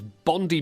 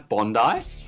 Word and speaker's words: Bondi: stole a surfboard, so they had to close Bondi Beach because of this, because one surfboard... How did you just pronounce Bondi?